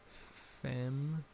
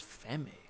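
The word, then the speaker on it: femme: how do you sprint how do you pronounce it fem fatale oh i thought it was fami whoops okay i was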